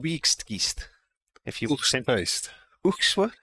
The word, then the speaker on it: Oegstgeest: The town is called Wiegstgeest. If you Oegstgeest. Oegstgeest? Oegstgeest.